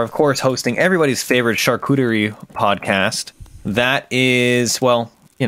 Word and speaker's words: charcuterie: It's your New Yorker accent that was throwing me off, the pronunciation. Charcuterie?